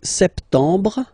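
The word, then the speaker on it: septembre: languages as well so sept sept sept remember this m on sep you don't insist on the final sep sep then same thing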